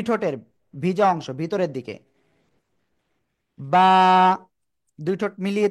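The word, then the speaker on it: ب: clear হলাম তাই না বা কোন জায়গা থেকে উচ্চারিত হয় দুই ঠোঁটের ভিজা অংশ থেকে বা এক আলিফ টেনে উচ্চারণ করতে হবে সবাই জোরে বলেন তো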